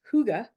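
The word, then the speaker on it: hygge: heard about this an interesting word uh it's pronounced Huga it's spelled h y g g uh but but it's pronounced Huga and it's considered the Danish secret to warm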